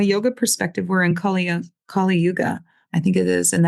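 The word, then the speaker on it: Kali Yuga: It's a lot of unrest and we're coming out of Kal Kaluga. I think I'm saying it right. Kalyuga now is what my mentor told me.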